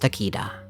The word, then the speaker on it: Takeda: In the Swedish dub, his name is pronounced Takida.